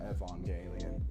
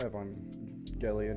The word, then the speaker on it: Evangelion: which was Unit 13 from Evangelion or Evan Gillian whatever you though whatever way you prefer to pronounce it so it was a